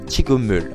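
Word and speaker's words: 직업: d dire en fait lorsque il est suivi d'une voyelle donc ici un e il va se transformer en un mium donc un M et donc ça va se prononcer chigom donc la phrase dira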